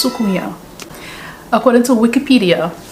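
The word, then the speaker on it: soucouyant: going to talk about sukuya it's spelt s-o-c-o-u-y-a-n-t pronounced sukuya according to wikipedia it's a shape-shifting caribbean folklore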